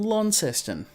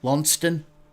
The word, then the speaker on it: Launceston: sydney melbourne or perth i am from launceston which is the second largest city of the state i live in spelled the same as however you say it in england lonston um how far away